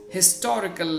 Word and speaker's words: historical: to the prevailing customs historical is pronounced with the her sound i'm reiterating it so